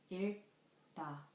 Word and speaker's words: 읽다: For example, 읽다, 읽다. The final consonants of 읽 is 리을 and 기역. It has sound of L and K at the same time.